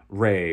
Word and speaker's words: Ra: the the Egyptian god Ray or raah depending on how you you're pronouncing it they think it's Ray but that those